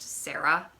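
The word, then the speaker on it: Serra: episodes and the woman i think it's pronounced sarah but spelled s-e-r-r-a which just just didn't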